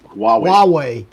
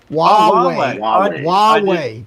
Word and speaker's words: Huawei: All right, so Gary says Huawei is pronounced Huawei. Huawei. W-A-H-W-A-Y. Huawei.